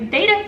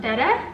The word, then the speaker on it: betta: is never a new beta fish-- which is apparently actually pronounced better but I've been saying it the wrong way the whole life so I'm not gonna